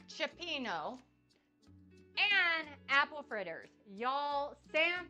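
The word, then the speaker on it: cioppino: can I find it in the chat Chapo chapeno there we go if i s like I'm an Italian it's going to sound right chapeno and apple fritters y'all San Francisco in the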